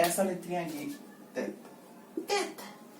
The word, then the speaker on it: teta: θ é essa letrinha aqui Teta. Teta. É uma letra grega, ou seja, pronuncia teta.